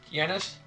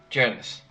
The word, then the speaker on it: Janus: that are usually pronounced Yanis. Let me actually, let's ask Google. Oh, it actually means God. Okay, so it is, at least in English, it's pronounced Janice. It is the American pronunciation.